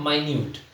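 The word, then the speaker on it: minute: हम मिनट क लेकिन इंग्लिश में सही प्रोनंसिएशन है मिनट और ये है माइन्यूट तो माइन्यूट का मतलब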